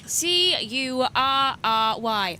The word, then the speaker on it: Curry: You can say Curry. It's how it's pronounced. C U R R Y Curry.